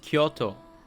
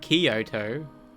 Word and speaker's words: Kyoto: It's pronounced Kyoto, not Kyoto.